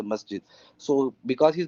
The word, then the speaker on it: masjid: you an example that the Egyptian guy is a masid I say masjid so because he's not